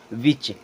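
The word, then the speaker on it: witch: यहाँ देखें यहाँ भी टी साइलेंट, विच। क्या हो जाएगा, विच।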